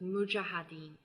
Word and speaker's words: Mujahideen: specific about the spelling but at least the pronunciation so it's Mujahideen the strength of the army grow but it